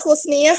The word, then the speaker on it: Husniah: Bacanya gimana, Mbak? Husniah, Pak.